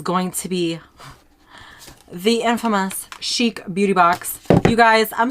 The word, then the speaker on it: Chic: did on this box I didn't even say it right I was kept on saying chick I don't know why